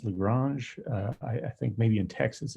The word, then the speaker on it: Lagrange: Actually, it's pronounced Lagrange.